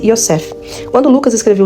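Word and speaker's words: יוסף: tinha no original José que no original hebraico pronuncia-se iosef quando Lucas escreveu o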